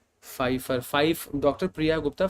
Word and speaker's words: Pfeiffer: Pfeiffer, Dr. Priya Gupta, Pfeiffer में P is silent.